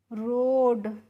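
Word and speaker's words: road: रोड।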